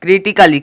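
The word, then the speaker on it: critically: एल वा है तो ए का कोई भी उच्चारण नहीं निकलेगा ए का कोई भी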